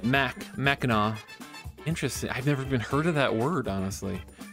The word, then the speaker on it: Mackinac: I said it, you said it right, Mackinac.